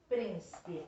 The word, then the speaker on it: príncipe: é príncipe príncipe príncipe então é uma palavrinha com três sílabas é trissílaba e nós temos que classificar quanto a sílaba tônica já tá até me dando a dica porque está acentuado igual quilômetros lembra não é a última não é a penúltima é a antepenúltima então é proparoxítona e qual é a